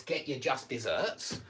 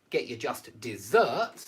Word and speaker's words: just deserts: just deserts is pronounced get your just deserts it's pronounced by this word but it's spelled like this word and it's the only